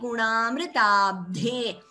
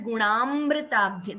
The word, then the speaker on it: गुणामृताब्धे: Here, Dayadi Gunamritabdhe. Please do not chant it as Gunamritabdhe. There is no extra M there.